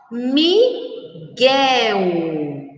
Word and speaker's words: Miguel: Foguete, guepardo, Guilherme, guincho, Miguel. Então, essas são as palavras que nós, quando pronunciadas, não escutamos o som da letra U, que exatamente como mangueira.